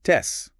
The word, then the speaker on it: C: Lisa pointed out that C on its own is pronounced tes, like the Teds in cats.